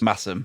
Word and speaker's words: Masham: And is it Massam or Masham? I can't remember how you pronounce it. Massam.